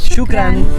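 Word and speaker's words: شكرًا: Y bueno, nos vamos a despedir con esta palabra en árabe que significa gracias y que se pronuncia Shukran.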